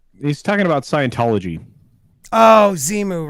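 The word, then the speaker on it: Xenu: talking about scientology oh zimu right right right and it's z new it's an end actually it can be pronounced either one you may want to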